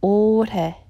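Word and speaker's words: 올해: more of a all you start with the OL and old hair and when you say hey you then that's when the L sounds are slightly touches the roof of my mouth but that's so slight and so fast that sometimes it's hard to hear that sound so it's not all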